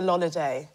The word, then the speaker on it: Lolly: my name isn't really Lolly it's a lolay a lolay yeah that's how J say holiday yeah um but people